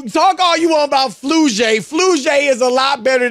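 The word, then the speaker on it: Flau'jae: Flujay.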